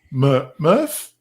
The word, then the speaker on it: Murf: On to number 3, Murph. Am I pronouncing it right? Murph. Murph. Yeah. Yeah. Yeah. No, Murph you're is talking about Murph. Murph. Not Smurf. Murph. Murph, Smurf. Hard R.